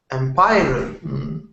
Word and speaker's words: empire: controlled by single power Empire I think two sys uhhuh correct and the stress ire um the first one yeah it's the first one so it's empire the Empire so it's